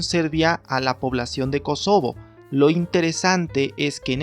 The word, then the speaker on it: Kosovo: de kosovo Sin embargo la expresión en español la expresión hispanizada es kosovo y no kosovo que es más bien una traducción al inglés es una pronunciación estilo inglés y bueno lo que